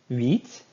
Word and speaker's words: huit: Huit. Huit. Kind of sounds like the word wheat, but the vowel's a little bit different.